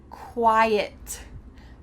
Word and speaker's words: quiet: Quit, quite, quiet. Quit, it's our short I. Quit, it, quit. Quite, quite is a long I. Quite, quiet. We need two vowels in that final word.